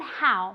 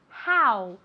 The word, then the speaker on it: how: Cuidado con how, ¿vale? Se escribe con una O, pero se pronuncia como si fuera una A y después una U. How, ¿vale?